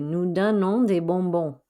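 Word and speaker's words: nous: giving we do give nu we are giving some candy again don't pronounce any of those final s's none of those final s's got pronounced okay no means we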